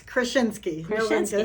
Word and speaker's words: Kraschinsky: last name for the thousandth time today it's krinski yeah and know why I was a little